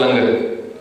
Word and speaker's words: Langar: So the idea was to explain to people how to pronounce Langar. Otherwise, they're going to say Langa. Yeah? But now we've got Langar, it rhymes with hunger, and it works.